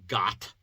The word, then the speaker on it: Gath: actual town named is gath we kind of have an idea about gath that's where goliath was from and the sound would be got and it sounds like